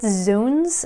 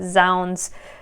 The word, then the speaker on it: zounds: okay and then finally is sounds or i think i've heard it zooms and some other weird pronunciations but zounds is the most common that i've come across and it's the way that it looks it's uh it's a